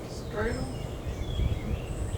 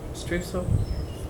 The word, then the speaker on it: Streusel: Strudel? No. Streusel? Crumbs on top. Streusel? Streusel? Streusel. She's pronouncing it the German way.